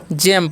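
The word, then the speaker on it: gem: क्या पढ़ते हैं जी जेम पढ़ते हैं ठीक है इसे गेम नहीं पढ़िए ठीक है जी रहता है उसका साथ ज हो जाता है तो जेम मतलब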